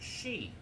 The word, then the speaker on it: Sidhe: Okay, Chapter 6, The Cairn Builders, delves into the mysterious fair folk, the Sidhe, spelled S-I-D-H-E, but pronounced she.